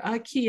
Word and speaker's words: Aki: But B'madisi Aki, the etymology there, Aki actually means the earth. And so it was that little sound at the end of Aki, like the little breath at the end of saying Aki, that I thought, oh,